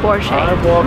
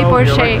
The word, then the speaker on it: Porsche: Because it's a German name, the stress goes to the first part of the word, and we say Porsche. Remember, never say Porsche, like never, boys.